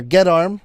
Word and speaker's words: Geddarm: Getterarm, or Gedarm, is GEDDARM.